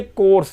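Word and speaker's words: course: न्यू ठीक है ये कोर्स ही इसको भी याद रखिएगा थोड़ा देते हैं सी ओ यू आर एस इसमें कोर्स ये को ये सी ओ यू साइलेंट है यहां पर एक कोर्स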